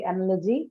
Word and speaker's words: analogy: Only the second syllable is available for us to mark the stress, hence that takes the stress.